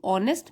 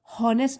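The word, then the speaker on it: honest: His living only through ऑनेस्ट means. यहाँ पे देखिए एच जो है वो साइलेंट है, हम बोलेंगे ऑनेस्ट, हॉनेस्ट नहीं बोलेंगे, ऑनेस्ट ईमानदारी से।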